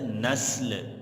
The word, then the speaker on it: نسل: لفظ ہے نسل، نسل، نسل سین اور لام دونوں کے جزم کے ساتھ، نسل، ٹھیک ہے بیٹا۔ آپ نے اکثر یہ لفظ سنا ہوگا، لوگ اسے غلط تلفظ کے ساتھ بولتے ہیں نسل، نسل درست تلفظ نہیں ہے، درست تلفظ ہے نسل۔ اسی کے ساتھ اگلا